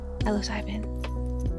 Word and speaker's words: psilocybin: Silo or Cybin? Psilocybin. I said it right. Yay! I think I said psilocybin at first, and then I was like, oh wait, no. It's gotta be Cybin.